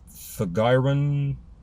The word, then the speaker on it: Thagiron: Pronounced, I believe, Golashub. And it means burners. 16th, or the sixth one, spelled T-H-A-G-I-R-I-R-O-N. Thagiron.